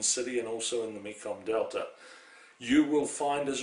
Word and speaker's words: Mekong: Please note that it's spelled Mekong, but it's pronounced Mekong in Vietnam.